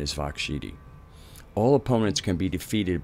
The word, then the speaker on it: Siddhi: With Matangi, she specifically confers Vak Siddhi, pronounced Shidi.